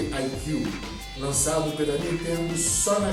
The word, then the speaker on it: iQue: O IQ Player, e antes que você me pergunte, se escreve assim mesmo, mas se lê IQ.